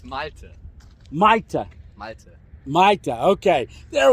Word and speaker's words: Malte: I have trouble pronouncing it. Malti. Malte. Say it close to the camera. Come here. It's Malte.